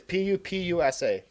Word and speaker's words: pupusa: PUPUSA? Is that how you say it? I want some now, man. Yes, PUPUSA.